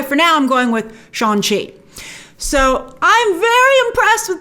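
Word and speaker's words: Shang-Chi: with entertainment weekly today he pronounced it sean she he might have been saying but the g is so silent that it's essentially shanxi so that's how i'm going to pronounce it until i see someone in a trailer or something pronounce it differently all right and so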